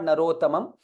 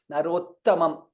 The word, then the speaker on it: नरोत्तमम्: So both needs to be, it is not Narottamam. Narottamam. There has to be a little more stress there.